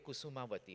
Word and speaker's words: Kusumavati: It's called the Brave Kusumavati. Am I pronouncing it correctly?